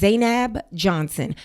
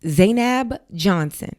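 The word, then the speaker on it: Zainab Johnson: My name is Zanab Johnson. Pronounced Zanab Johnson.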